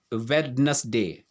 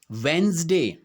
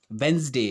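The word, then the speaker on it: Wednesday: वेंसडे आपको पता है क्या होता है? वेंसडे, वेडनेसडे नहीं होता है, ये वेंसडे इसका जो है सही उच्चारण होता है।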